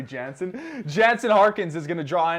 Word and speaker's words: Jansen: janice uh and then i mess up jensen i should say that but i can't say jansen jansen harkins is gonna